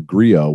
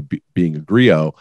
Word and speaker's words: griot: 2020, I wrote the story about being a griot, which is an old storyteller.